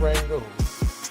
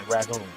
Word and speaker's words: Rangoon: How to make crab rangoon. Rangoon, R-A-N-G-O-O-N. Rangoon. We say ragoon. So it just all depends on where you're from, you know, and how you say it.